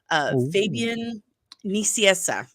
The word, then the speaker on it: Fabian Nicieza: Well, when I actually looked at the spelling, and I have to remind myself, like, yes, it's in Spanish, so it's going to be the Spanish alphabet.